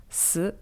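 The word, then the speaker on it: 死: Le chiffre 4, par exemple, il se prononce « si » en mandarin. C'est presque la même prononciation que le mot « mort » qui, lui, se prononce « si » avec un ton juste différent.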